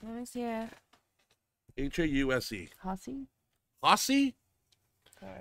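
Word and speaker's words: Hause: Haase? Haase? Okay. If you take the H away and put a P there, it's pause.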